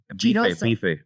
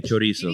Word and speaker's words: chorizo: Signature dish is beef de chiroso. Bife. Yeah, bife. But it doesn't have a little chink behind it. It's just say bife. Okay, bife de chiroso. No, chorizo.